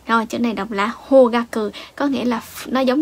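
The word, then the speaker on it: 方角: Rồi, chữ này đọc là hogaku ha. Chữ phương này thì nhiều bạn biết đọc là hô rồi đúng không? Chữ phương nó dài dài như vậy chắc chắn là sẽ có trường âm he.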